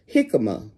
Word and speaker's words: jicama: She emailed me and asked me, had I ever eaten or grown jicama? The J is silent.